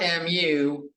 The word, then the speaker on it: mu: is the Greek letter mu it's spelled mu it's pronounced m-e-w you Pokemon fans out there it's like Mewtwo it's said like that that cool looking e